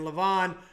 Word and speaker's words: Levan: I apologize, it's Devon and Levan. I kind of get the wrong emphasis on the wrong syllables sometimes.